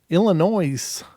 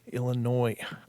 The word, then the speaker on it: Illinois: just how it's spelled but Illinois I don't know why they bother with the S just saying it could